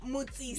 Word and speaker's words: Mutsisi: Flavia, am I saying it right? Yes, you are. It's Mutsisi. Mutsisi.